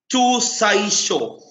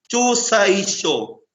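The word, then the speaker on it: Chuzaisho: Una, Chusaisho. Tinola. Chusaisho.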